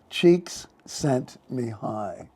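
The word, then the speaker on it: Csikszentmihalyi: pronounce it is miali look at the spelling all right it's all all consonant no vowels cheeks sent me high Mi highly cheeks like cheeks sent Mi High all right so he's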